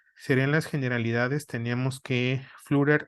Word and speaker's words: Flutter: las generalidades teníamos que flutter o fluder como lo pronuncian en Estados Unidos en la mayoría de